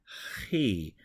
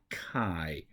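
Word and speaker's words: χι: rough breathing on it so he not kai P the letter C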